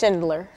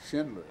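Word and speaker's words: Schindler: yeah the life of and Times of Oscar Shindler like s c h i n d l e r like Shindler Shindler well not not D just Shindler Shindler yeah yeah you say it right I know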